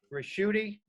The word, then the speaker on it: Ricchiuti: uh our speaker today is professor peter it's pronounced rashudi he founded the birkenrod reports and investment research